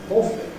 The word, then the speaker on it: awfully: The weather's been awfully odd. In ordinary speech, the word awfully has two syllables. Awfully. That's how we normally say it. Although we can say it in a especially slow way, awfully, that's all possible.